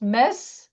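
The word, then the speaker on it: Metz: Alors, on prononce mess mais ça s'écrit. Si vous étiez dans le sud de la France à Toulouse, on dit le siège de mets parce qu'on prononce toutes les lettres mais là je vais le prononcer en français correct.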